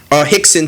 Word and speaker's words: Rickson: So basically UFC 1, everybody wanted Hickson to fight. it's kind of weird because his name is Hickson, but it's spelled Rickson.